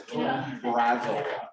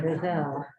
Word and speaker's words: Brazzell: Her name is Brazel. How do you spell it? Brazzell. All right, Brazil. Yes, That's like Gazelle.